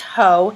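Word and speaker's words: Haux: this is max ho it's h e a UX pronounced ho and I use this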